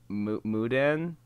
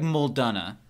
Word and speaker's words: Muldonna: something something like greg moudin you're really really close yeah i knew does it rhyme with gunna uh greg mudana closer but it's greg muldonna muldonna obviously you can